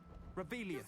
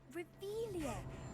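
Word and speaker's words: Revelio: Where are you, Rebellious? You're saying it wrong. Reelious.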